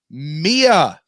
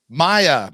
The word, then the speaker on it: Maya: Mia. Hi. What's up, guys? I got that right? Mia, right? Maya. Welcome I knew it was Maya. I just wanted to make sure I was saying it right.